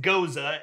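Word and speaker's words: Gose: from the ghost it goes now it is pronounced Goza and yes it is spelled gos see and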